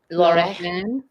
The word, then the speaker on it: Lorraine: They are pronounced the same. AI and is, which is why you hear the in Lorraine. Lorraine.